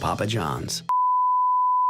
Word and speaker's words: Papa John's: Papa John's. 그럼 원어민한테 P를 똑같이 쓰는데, 예. 처음 P는 프로 하고 두 번째 P는 뿌로 발음해요.